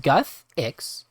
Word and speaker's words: Guthix: but a fair bit and it says guthix pronounced guthix is the god of balance and nature and